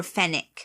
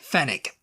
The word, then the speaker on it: Fenwick: one for Posh people Fenwick or fenic fenick fenick yeah yeah it's spelled Fenwick yeah I don't know this